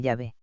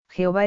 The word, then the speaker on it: Yahvé: Jehová es una falsa pronunciación del nombre de Yahvé, que pudo ser introducida hacia el año 110 después de Cristo por los masoretas, que vocalizaron el nombre de YHWH, hasta entonces transcrito sin vocales.